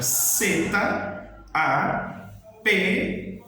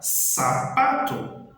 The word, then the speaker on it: zapato: Se este é o som dela, se eu ver a palavra em espanhol sapato, ela é escrita com a letra Z, A, P-A-T-O. Então, a letra é Z, eu vou falar sapato. Não vou falar zapato, porque aí eu já